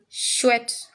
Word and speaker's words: chouette: C and H brings the sound sh. Sh. Okay? You remember I read this as chouette.